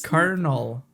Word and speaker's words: Colonel: carel colel carel carel I know it's spelled col but it's not you just replaced the L with an R it's kernel colel yeah but that's